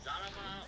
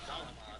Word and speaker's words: Zalama: It was actually a guy known as Zarama or Zalama, depending on how you pronounce it, because it's an L and the Japanese language is kind of tricky.